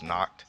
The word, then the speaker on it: Nacht: And see, let me know down below if you guys pronounce his name Noct or Natch, because like I was saying Natch before, but people have told me that it's Noct.